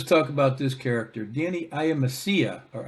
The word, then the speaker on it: Iamascia: hi everybody let's talk about this character Danny I am Asia or I am Messiah is how it's pronounced apparently I am Messiah I a m-a-s-c-i-a